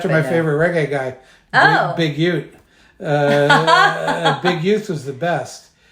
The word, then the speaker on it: Youth: Is it UTE? Y-O-U-T-H. Okay. So it's youth, yeah. but pronounced Ute because you're proper.